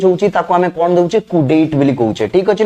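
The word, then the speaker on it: coup d'état: जीवो पढिबा पई हमें केमिति पढिबा याकू सर कोऑपडिटेट पढिबा किंतु एब्सोल्युटली रॉन्ग ये होछि मिस प्रोनाउंसिएशंस ठीक अछि याकू केबे पढिबानी जे कोऑपडिटेट लिखाइ छै बेली यार ताना सर एग्जैक्ट राइट प्रोनाउंसिएशंस कोन हबो ना कुडेट भल की देखो कोन लिखि छि मु कुडेट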